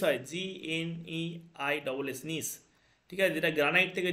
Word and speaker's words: gneiss: তারপর নিস হয়, GNEISS, নিস, ঠিক আছে। যেটা গ্রানাইট থেকে যেটা হয় নিস, এই জি এর উচ্চারণটা থাকে না, NEISS, নিস হয়, ঠিক আছে।